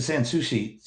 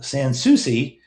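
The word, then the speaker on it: Sans Souci: who she is um lisa san sushi uh san souci yes i said it right um does trade shows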